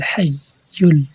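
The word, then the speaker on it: الْحَيُّ: আমি একসঙ্গে পড়তেছি আল্লাহু লা ইলাহা ইল্লাহ হুয়াল হাইয়ুল হাইয়ুল কেন হাইয়ুল দুইবার কেন পড়া হবে এখানে তাসদিদ তাসদিদ হরফ দুইবার উচ্চারণ করতে হয় কফ ইয়া জবর কাই ইয়া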